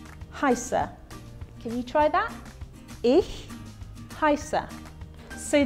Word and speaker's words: ich: can you try that ich haissa so these two letters here are pronounced bit like the ch in the scottish word for lake loch so ich hello my name is